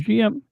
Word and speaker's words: GM: It is a high-spec machine developed last among the variations of the GM or Jim as they pronounce it in the dub during the one-year war